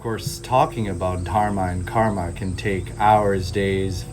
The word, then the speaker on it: karma: dharma for dharma, or karm for karma, or yog for yoga, or asan for asana. A little bit of interesting knowledge: when you're actually speaking, when we speak Hindi or Sanskrit, we don't actually pronounce the A.